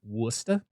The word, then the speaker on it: Worcester: The one that nobody can pronounce correctly because it is wrong. Worcester?